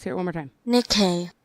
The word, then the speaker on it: Nikkei: it one more time Nikkei Nikkei got it I thought it was Nakai all righty well there